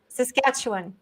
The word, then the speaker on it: Saskatchewan: like says catch says sketchup can you correct saskatchewan yeah with the name of this city in canada that's all perfect thank you saskatchewan yeah yeah you see so you've been teaching